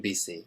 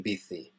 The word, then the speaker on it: bici: Voy en bici, or voy en bici in Spain.